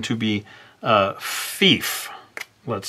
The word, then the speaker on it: Fief: But for an American, they might accidentally pronounce it as Fif instead of Fief. Now, you could also spell it like this, F-I-E-F, and say this should be pronounced Fief. But again, some people might pronounce it as Fife, and then you're struggling correcting them all the time.